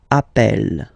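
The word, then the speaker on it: appelle: e really open that's the reason why you pronounce it app Appel okay Appel Appel Appel and Appel all right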